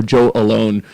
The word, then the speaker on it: AllOne: AllOne, but it's also Joe Alone. Originally, it was Alone with 2 L's. I just spell it weird like that too. Oh shit. So it's Joe Alone or Joe AllOne.